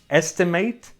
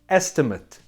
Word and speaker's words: estimate: So in the first part of the sentence, estimate, estimate, it's a verb, and in the second part, estimate, estimate, it's a noun.